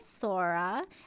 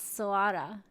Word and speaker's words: SOARA: But yes, our first song today is Mikazuki Fantasy by Sora. We do have an official link here, so we will... Oh, I pronounced it wrong, excuse me. It's Soara.